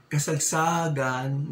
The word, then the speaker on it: kasagsagan: Kasagsagan ng lindol. It should have been patay sa kasagsagan ng lindol. Patay sa kasagsagan ng lindol. Kasagsagan.